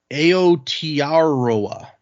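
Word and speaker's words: Aotearoa: And the title say, and I'm not going to be able to pronounce this correctly. It says, "Greetings from Aotaroa."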